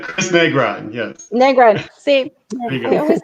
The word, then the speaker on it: Negron: Negron.